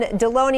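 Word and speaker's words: Delony: John Deloney. Am I saying your last name right, doctor? Perfect. It rhymes with bologoney.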